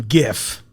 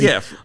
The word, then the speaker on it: GIF: Yeah, that same charming +1 is a soft G GIF. And she's like, well, the creator said it that way.